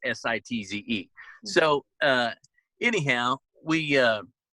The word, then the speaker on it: Sitz: sites it's sit TZ and it's you know pronounced like camps sites but it's sitz so uh anyhow we uh my dad had